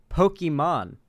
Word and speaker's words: Pokimane: The real way you're supposed to pronounce Pokimane's, the way you're supposed to pronounce her username is actually Pokemon. I always thought that Destiny was pronouncing it wrong as a meme, but no, as it turns out, the actual pronunciation is supposed to be Pokemon, like Pokemon, but it's probably best people think it's Pokimane for obvious Nintendo will sue the absolute